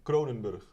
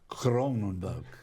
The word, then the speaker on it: Kroonenburg: got that right Mike in Dutch it's a cronenburg cronenburg yeah as you know my Dutch isn't isn't